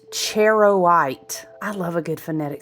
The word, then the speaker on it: charoite: The the the word is pronounced cherowite. I love a good phonetic spelling. Like, really break it down like I'm in first grade. I need that. Okay. Cherowite. It is not chariot.